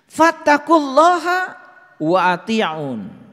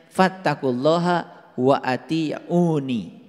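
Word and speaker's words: فاتقوا الله وأطيعون: Fattaqulaha wa ati'un. Nah, ini sebetulnya dibacanya harusnya fattaqulaha wa atiuni. Dibacanya harusnya begitu.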